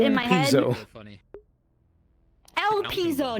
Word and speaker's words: Elpizo: my mind so funny el pizo not ellipso like chat i'm reading